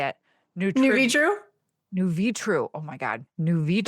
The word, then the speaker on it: Nuvitru: New Vitru.